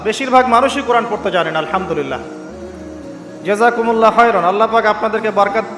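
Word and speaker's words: الحمد لله: এইতো আপনি পড়ছেন আলহামদুলিল্লাহ। শব্দটা কি? আলহামদুলিল্লাহ। এই হা এর মাখরাজ কোথায়? হা এর মাখরাজ কোথায়? বলেন একজন কন্ঠনালীর মাঝখান থেকে এখান থেকে আপনি উচ্চারণ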